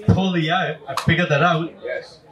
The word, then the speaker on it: Poilievre: know what this is the trick one it's poier I figured that out yes it's not poier poier poier see there we go so when